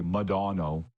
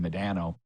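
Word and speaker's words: Modano: Munzie and Mike Medano, or as they say in the USA, Madano, which in retrospect I think is the proper pronunciation of it, Madano. We always said Medano.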